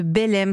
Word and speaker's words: Belleyme: Vous êtes la fondatrice de Belem. Ça s'écrit B-E-2-L-E-Y-M-E.